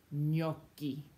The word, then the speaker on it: gnocchi: When you see a GN combo in a word, that sounds like a ny, like the word you know, lasagna, or the English word canyon. It's like an NY sound.